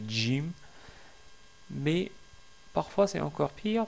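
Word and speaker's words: جيم: j'ai déjà dit que le Jim se prononce comme si c'est un G français, donc ils disent Jim au lieu de Jim.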